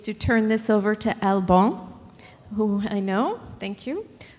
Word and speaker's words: Alban: How many of you can pronounce my name, Alban? That's pretty good. So my name is Alban.